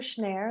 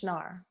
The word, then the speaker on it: Schnarre: different ways sure i i prefer snare like air but it's not incorrect it's the german way to say schnar hello nice language okay